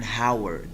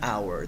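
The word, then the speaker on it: hour: cancel on H in these words is not pronounced before I mentioned that and our this is not an Howard this is wrong and our this is right and Eyre an honor and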